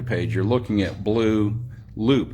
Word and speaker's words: Loope: you're looking at Bleu Loope. Is it Loope? Yes, sir. Okay. And the first name is spelled B-L-E-U. Yeah, like blue cheese. Last name is L-O-O-P-E. Is that right?